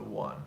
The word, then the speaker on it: one: don't say the sorry we don't say v1 because of the of the pronunciation think about the sound not just the vowel there are many vowels that begin usually it's a W or a Y sound you might notice that we we we begin certain I mean certain words like one are kind of exceptions